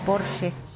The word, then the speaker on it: Porsche: Que Porsche, no es Porsche, es un coche alemán y la pronunciación correcta en alemán es Porsche.